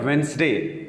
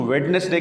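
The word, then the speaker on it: Wednesday: دن کا نام ہے وینسڈے. کچھ لوگ اس کو ویڈنسڈے کہتے ہیں، یہ ویڈنسڈے نہیں، مختصر آسانی سے اس کو کہیں وینسڈے.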